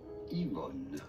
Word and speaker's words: Yvonne: english in french this is normally said as ivan so this book is entitled finding yvonne by